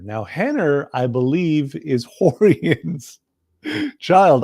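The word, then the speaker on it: Renner: there's a gentleman named Henner now Henner I believe is Horan's child I'm laughing because these are all our names they all start with r uh and they're all pronounced with H's right but Hann are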